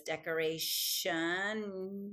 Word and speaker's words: decoration: So that way when it says decoration, you're not tempted to spell it with an SH. It's just that the T next to an I becomes a sh sound.